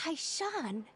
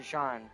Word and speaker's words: Han: So this is Han. Han. That's how you say it. Hishan. I said Hishan.